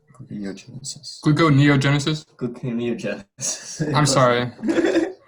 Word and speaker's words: gluconeogenesis: Glucogenesis. Gluconeogenesis. Gluconeogenesis. Gluconeogenesis. I'm sorry. So, okay, the answer is gluconeogenesis. Yeah. What did the judges think about that? It was mispronounced.